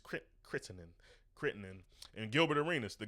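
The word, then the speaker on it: Crittenton: Um I think I always say that name wrong. I think it's technically Javar Kittinin. I say those TE's a little little I get I get I really get into the T's.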